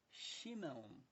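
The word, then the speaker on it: שמעון: não é Samuel é chemo é Simão É chimão tá bom aí vem para o grego e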